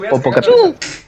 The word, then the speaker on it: Popocatépetl: No, de hecho sí se pronuncia como... ¿No mames, neta? Sí. Si lo checas con un lingüista, sí te va a decir que el TL se pronuncia como... Es raro, pero es como Popocatépetl.